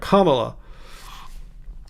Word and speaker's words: Kamala: The way I remember how to pronounce her name is that it starts with comma, like the punctuation mark, Kamala. All right, I wouldn't call her Kamala.